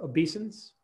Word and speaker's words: obeisance: Is that correctly pronounced, obeisance?